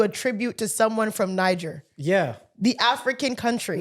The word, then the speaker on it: Niger: trying to do a tribute to someone from Niger yeah the African country right and he used